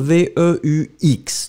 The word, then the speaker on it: veux: be the first form, V-E-U-X, don't pronounce the final X, tu veux, V-E-U-X, same